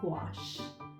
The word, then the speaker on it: gouache: use watercolor based paper gouache has a word pronunciation how i remember just to call it i would say squash like the squash we eat but instead of saying a scoop i put good gouache and that is